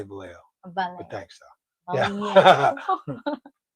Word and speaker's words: Vallejo: In fact, in Philippine accent, we pronounce that as Vallejo. We just say Vallejo. Vallejo. But thanks, though. Yeah. Right. Double L is Y.